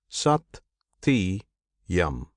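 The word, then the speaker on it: सत्यम्: This name Satyam consists of three syllables. Sati Yam. Sat signifies the immortal. the the model and with yum he binds both because he binds both the immortal and the model. Therefore it is yum.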